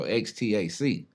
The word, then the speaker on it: Xta-C: So Xtac. Okay. And then my mother, she's an English buff. So she phonetically spelled it Xta. So X lowercase ta dash capital C. So whenever you say it, it's Xta-C.